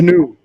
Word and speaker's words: GNU: to spell that aragorn it's a GNU for folks trying to understand the new GNU uh uh it's a